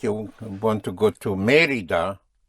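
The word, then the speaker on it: Mérida: Without the accent, it would be Merida. But it is not Merida but Merida. And you have an accent. You also have Merida incidentally in Yucatan Mexico.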